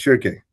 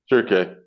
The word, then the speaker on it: Shirke: How would I pronounce it? it's Shirke. Shirke, Yeah, the founder and CEO of Arceon, a company making advanced composites and materials for extreme environments.